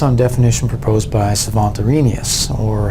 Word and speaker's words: Arrhenius: that was based on definition proposed by Savant Arrhenius, or Arrhenius as some people like to pronounce it.